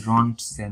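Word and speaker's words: Röntgen: এর আবিষ্কারক কে রন্জেন এক্সরে এর আবিষ্কারক হলো রন্জেন না একচুয়ালি রন্টসেন উনার নামটা রন্ট রঞ্জেন এই টি টাও তো উচ্চারণ হয় না আর কি তো আমরা রন্জেনই বলি এক্সরে এককও কিন্তু উনার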